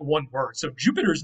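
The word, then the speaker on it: Iuppiter: So they wrote it with an I and they pronounced it like a Y, Jupiter.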